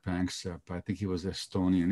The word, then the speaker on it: Panksepp: Well, there was a great, great scientist called Jack Panksepp.